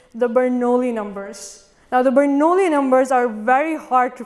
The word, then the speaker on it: Bernoulli: Now, the Bernoulli numbers are very hard to pronounce. I don't know if I'm saying it right, kind of sounds like ravioli.